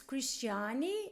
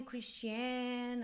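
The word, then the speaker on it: Cristiane: it's Cristiani, so it's Christian with the E in the end. So some people call me Christian, other people Christine, but my friends call me Cristiani.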